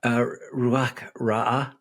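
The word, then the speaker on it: רוח רעה: One, can you tell us how to pronounce that? The Ruach. Yeah. Ruach Ra'ah.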